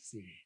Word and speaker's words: Singh: Sing. that's where the sing comes from. Yeah. Sing. Nice. Is it Sing with the GH? At the, how do you spell it? SINGH, but Yeah. the H is silent.